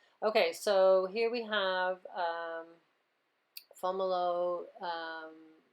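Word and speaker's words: Fomalhaut: So this is Fomolo, it's pronounced, okay?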